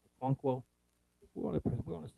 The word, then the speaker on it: Okonkwo: How do you pronounce his last name? Okonkwo.